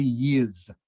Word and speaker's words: years: go that's better 50 years ago 50 years ago it is almost like the S is a z sound a z sound 50